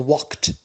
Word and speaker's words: walked: and the past becomes walked notice here d it is pronounced t it is spelled d by pronounce entered the